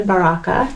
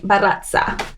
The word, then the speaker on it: Barraza: She called me Barraza. Barraza. I was like, not Italian, Mexican. You pronounce the R's, not the Z.